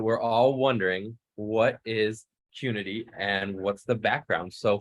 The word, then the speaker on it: Qnity: the name wrong it's community and really um pronunciation is like unity so that was really